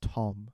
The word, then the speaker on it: Thom: Um it's a boy named Tom. um which is spelled th but it's pronounced Tom because Thomas the correct way to spell Thomas has an h in it.